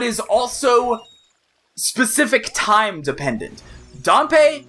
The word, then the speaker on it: Dampé: also specific time dependent dumpe or dampe I I keep switching how I want to pronounce it I guess it would be DPE wouldn't it uh dumpe only comes